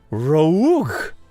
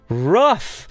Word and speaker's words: rough: cough I know cough let's try another one ah rogue no rough and then you say